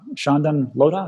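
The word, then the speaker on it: Chandan Lodha: Also, if you want to really delve into taxes and cryptocurrency, Shehan and I think his partner here, Shandan Lodha, is that how you say his name?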